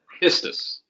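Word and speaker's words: πίστις: kind of going back, you want a little bit more emphasis on this, but you're saying it right. It's pistis. Okay.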